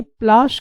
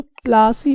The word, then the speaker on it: प्लाशी: बनती है और ये प्लाश के पौधों से बनती है। तो जो प्लाश है तो स्प्लाश को सही से वो प्रोनाउंसिएशन अंग्रेज नहीं कर पाए, इसीलिए वो प्लासी बोल दिए, प्लाशी को प्लासी बोल दिए।